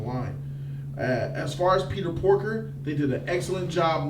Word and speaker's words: Porker: As far as Peter Porker, they did an excellent job not making that nigga in this movie too much with his stupid comedy and shit that I expected. They gave me just enough Porker, you said it right.